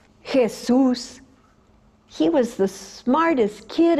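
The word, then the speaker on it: Jesús: it as varus cashews she called him Jesus equally we were so pinches we throw ourselves on the floor say Jesus make a miracle help me lob Jesus hey soos he was the smartest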